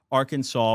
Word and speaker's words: Arkansas: Arkansas with an S on the end, but pronounced Arkansas with a W on the end.